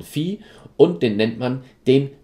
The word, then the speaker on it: Phi: Diesen Winkel, den benennt man mit Phi, also dieses komische Zeichen wird ausgesprochen Phi, und den nennt man den Mittelpunktswinkel.